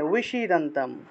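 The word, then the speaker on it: विषीदन्तम्: অর্থাৎ আমি এই ক্ষেত্রে আমাকে তো ব উচ্চারণ করতে হচ্ছে, এই বিটা উচ্চারণ করতে হচ্ছে, ব আমি উচ্চারণ করব ঠোঁট না লাগিয়ে, তাহলে ঠোঁট না লাগিয়ে ও উচ্চারণ আসে, আর এর সাথে একটা রস্বইকার লাগিয়ে দেবো, তাহলে উইশিদান্তম।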